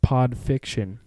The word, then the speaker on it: Pod Fiction: first one is called pod fiction spelt with two DS pod rhymes with odd go find that and